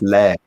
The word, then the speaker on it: laird: it's lord and lady in scotland it's lair it's l-a-i-d or a-r-i-i-r-d so it's it's a different layered root but it's a different word as it were it's lead so you actually pronounce it as if you've got i don't know maybe a scottish accent or something he would be able